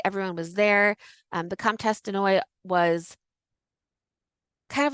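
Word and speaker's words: de Noailles: But de Noy is Denoailles. So she's the Comtesse de Noy.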